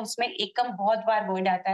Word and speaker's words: Akums: आस्था pronounce कैसे करते हैं, आकुम्स ही है क्या और पैसा डालना है नहीं डालना? हाय गुड मॉर्निंग, इसका प्रोनाउंसिएशन एकम करके होता है, एकम ड्रग्स, तो ई करना चाहिए तो कंफ्यूजन नहीं होता।